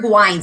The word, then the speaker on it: Gwines: And she says, it's Wines with a G.